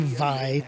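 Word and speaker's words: Vay: So here's Vey, or as they say in-game, Vi. Yes, I know it's pronounced that way, but I always hated it.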